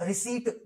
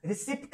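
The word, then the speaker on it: receipt: या रिसीट बोलो, रिसिप्ट नहीं, it's called रिसीट, P silent है, अंडरस्टूड।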